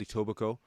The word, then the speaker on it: Etobicoke: city, an area called Etobicoke. Say that again. Etobicoke. Etobicoke. Yeah, so some would pronounce it Etobicoke. Okay. Some would, my first pronunciation was Etobicoke.